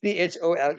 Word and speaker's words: chole: Basically, any disease that starts with the syllable chole. I'm not talking about the Indian batsman Kohli now. He is a different Kohli. This is CHOLE, chole.